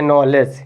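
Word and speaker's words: knowledge: लिखा है वही देखि नॉलेज यह वाला लेटर यहां भी लिखा है ठीक है ना इसमें देखिए के साइलेंट रहेगा इसको क्या पढ़ेंगे नॉलेज यह वाला लिखा हुआ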